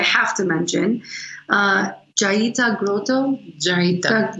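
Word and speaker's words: Jeita: Jaita, you said it right.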